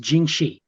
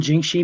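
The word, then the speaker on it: 僵尸: ones is uh comes from china and it's pronounced jinxi and jing shi basically means undead not to be confused with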